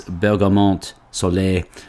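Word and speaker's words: Bergamote Soleil: um and if it if it has a silent E you do pronounce the T so it's it is Bergamot Soleil for sunny Bergamot um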